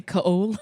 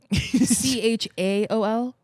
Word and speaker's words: Chaol: It's Cole. It's just spelled fucking stupid. It wouldn't be Kale. It's Cole. I believe you. Chaol. Yeah. Not OA. No. It's spelled like coal in a fire.